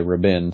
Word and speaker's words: Rabin: say trevor raven but i guess it's robin i've heard several people say rabin so um he had